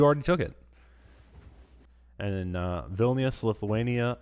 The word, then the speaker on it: Vilnius: And in Vilnius, Lithuania. How do you pronounce Vilnius? Vilnius? Vilnius. If you Vilnius. pronounce it in English, you say it Vilnius probably, Vilnius? but in Lithuanian you say Vilnius.